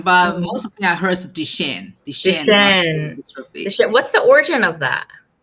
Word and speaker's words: Duchenne: but mostly i heard the shane what's the origin of that it's a doctor a discover the gene this is a french doctor oh wow so dmd duchenne muscular dystrophy over 17